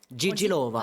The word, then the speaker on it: JJ Lova: JJ, Gigi, Gigi. Gigi Lova. Alors, Gigi Lova, mais Gigi, ça s'écrit Gigi à l'italienne. Non, vous, c'est Gigi. Ouais, on fait des références à Dalida très, très souvent.